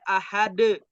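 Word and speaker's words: أحد: Contoh, kul huwallahu ahad. Nah, tulisannya ahadun. Dibacanya dimatiin. Ahad.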